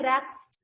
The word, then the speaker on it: wreck: WRECK, rack. Here also silent letter is, which letter is silent? W.